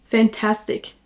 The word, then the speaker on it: fantastic: L'adjectif fantastic. Attention, on accentue sur la deuxième syllabe. Fantastic. Vous entendez que je ne dis pas fantastic ou quelque chose comme ça. Fantastic.